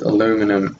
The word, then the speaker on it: aluminum: Isn't that how some people pronounce it? Aluminium? Yeah. That's how Vic Star pronounces it, but I'm pretty sure it's aluminum. I think it just depends on where you're from.